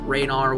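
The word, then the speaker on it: Ranarr: So, I went ahead and cut that off because, ironically enough, I was running out of herbs, especially Renard weeds, Rainar weeds as some people say.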